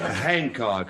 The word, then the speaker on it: Hancock: The H is pronounced, and anybody who says it ain't is ignorant. Hancock, address?